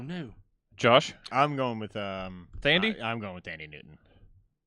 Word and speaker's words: Thandie: I'm going with Thandie? I'm going with Thandie Newton. I was hoping you would. She was really fucking good. She was Pretty really sure good. it's pronounced Tandy.